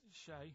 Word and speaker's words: Che: week I remember to what his name was Shay he's like Shake and his his surname is